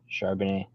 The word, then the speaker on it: Charbonnet: Charbonnet.